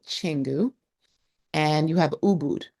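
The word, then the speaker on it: Canggu: popular areas will be Changu, which is C A N GU, not Kangu, but Changenu, and you have Ubud.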